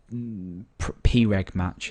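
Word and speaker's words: preg_match: um we say uh P match is how it should be pronounced uh if this equals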